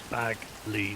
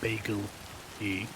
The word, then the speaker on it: Bagley: It's meant to be Bagley, not Bagel E. And because of that, because of that being my username, my friends would call me M Bagley.